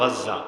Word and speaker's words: গাজ্জা: আজ রাতে মনে হয় আমরা গাজ্জা, বাংলায় বলে গাজা, মূল উচ্চারণ গাজ্জা, আজ রাতে আমরা বোধহয় গাজ্জাকে চিরতরে হারিয়ে ফেলতে যাচ্ছি।